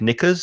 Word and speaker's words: knickers: i have weak knees and the same with knickers silent k and knickers will be underwear for